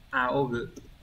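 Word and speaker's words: 仰ぐ: Đấy, cái này đọc là aogu. Aogu.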